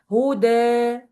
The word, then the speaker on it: هدى: So you will pronounce it like this, huda. So it's not ya. You will not pronounce it as ya. I know it's written as ya, but you will pronounce it alif.